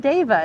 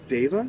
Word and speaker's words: Dava: is David hi I'm Dava it's from David Dava yeah spell that d